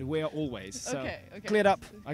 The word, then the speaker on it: Alvvays: I saw Always, which is spelled Alvvays, and I was not sure. Is it? I guess it's probably Always, and it's just the styling thing. But it could be Always, Always. But on stage, the singer said, "We're Always."